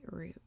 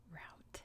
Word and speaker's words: route: in my asmr voice we'd say root root let the t gets dropped so um if i